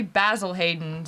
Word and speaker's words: Basil Hayden's: off he was like who do you know who's named basil do you know a man named basil right as a name yeah and so he was like it's actually basil Hayden's and then apparently the brand was like no everyone says basil so just just say basil let's go with the herb instead of the man right yeah yeah exactly